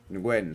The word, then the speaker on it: Nguyen: Nguyen. Nguyen. Yeah, Nguyen. it's really like one syllable. Just that whole win. name. Yeah. Nguyen.